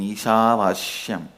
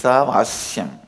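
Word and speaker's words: ईशावास्यम्: My pronunciation Eeshaavaasyam is also Padabetha. How I heard from my masters, I am repeating, but actually it is Eeshaavaasyam. Eeshaavaasyam is not Vasya.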